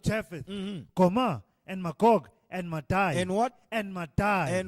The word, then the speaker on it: Madai: Madai, pronounced Madaj, Greek Medos, is the sons